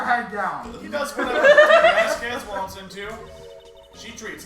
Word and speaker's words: Vasquez: pronounced? Vasquez. Yeah, Vasquez.